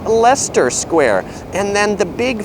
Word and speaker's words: Leicester: There's a square that looks like it's called Leicester Square, but it's pronounced Leicester Square.